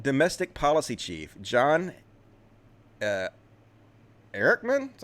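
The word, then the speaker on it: Ehrlichman: uh former nixon domestic policy chief john uh erickman that's how you pronounce it this is back in the 60s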